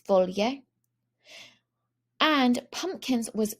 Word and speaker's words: foglie: Two things to notice here are that GLs in Italian make an LY sound. So leaves was not a gl sound in there, but it was foglie.